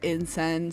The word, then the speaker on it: In Seine: And so then I was looking up French jokes and I came to insen. Like it's spelled like insane if you're like reading it in English standpoint, but it's pronounced like insen.